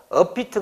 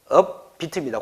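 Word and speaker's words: 업비트: 발음 그대로 썼나 봐요 5피트 가 아니라 정확하게 하면은 업이 틉니다 고수정 하고요 그 다음에 또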